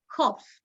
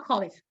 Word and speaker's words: Hobbes: Se escribe Hobbes, H-O, B larga, E-S, Hobbes, no Hobbes, Thomas Hobbes.